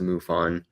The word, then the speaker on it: MUFON: the Mutual UFO Network, or I think it's pronounced MUFON, in the US.